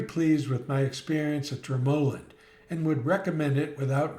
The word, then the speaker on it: Dromoland: A quick aside, before our visit, I was calling the place Droand. And then I asked someone at the front desk and found out it's actually pronounced Dramoland with the emphasis on the second syllable.